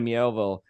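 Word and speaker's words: Miéville: you know uh with we can say it right it's China meowville like with China mielville and the city and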